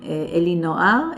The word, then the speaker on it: Elinoar: Okay, so it's my name, Elinoar, Alinoar. A-L-I or E-L-I? Yeah, E-L-I. E, okay, sounded like A, so E-L-I.